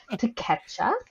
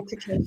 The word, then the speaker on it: Takeshita: our lovely Orange Cassidy against Takesha. Takesha, I So believe it's Takesha. Takesha, yep. I phonetically wrote it down.